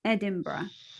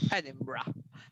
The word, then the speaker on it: Edinburgh: notice here is that there are three syllables in this word it's a very long word in terms of spelling but in syllables there are only three sounds if we look together